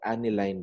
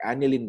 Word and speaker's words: aniline: and collectively known as the aniline that is being or aniline dye sorry both are used as pronunciation for this type of words okay now let's